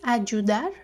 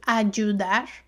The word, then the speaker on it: ayudar: So notice the pronunciation of this consonant. I'm from Venezuela, I pronounce it ayudar, ayudar. But depending on the region, it will be something like ayudar or ayudar, okay?